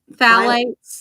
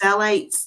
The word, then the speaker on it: phthalates: Phthalates. Phthalates. The P is silent, so I guess it's phthalates.